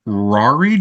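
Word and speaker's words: Ruairi: pronounced his name right so I'm going to say it's Rari Joseph r u a r r i so Rari Joseph after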